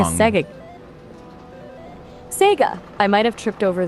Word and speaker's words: Sega: Yeah, because you said SGA instead of SEGA.